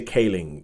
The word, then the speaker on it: Kaling: I always say Calling, but I've heard other people say Kaling like Mindy Kaling. Kaling. It means why you see that? Because But she's Tamil and Kaling doesn't sound like a Tamil pronunciation.